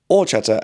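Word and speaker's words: horchata: Um Orchata, H is silent, not too bad for you, but if it has too much sugar then not good.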